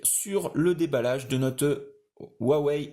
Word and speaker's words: Huawei: le déballage de notes huawei nova ou froids wait see on le prononce à la chinoise alors c'est un modèle